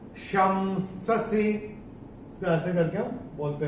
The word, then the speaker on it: शंससि: और इस श के ऊपर जो अनुस्वार आ रहा है उसके बाद का अक्षर है स, और अनुस्वार के बाद जब स आता है तो अनुस्वार का उच्चारण होता है म।